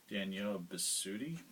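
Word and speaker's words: Danielle Bisutti: there's a character played by an actress named danielle besuti that's how you say her name but her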